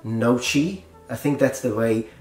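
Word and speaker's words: noci: I've heard people read this in like nochi. I think that's the way most people that don't know how to pronounce it read it, nochi, which is actually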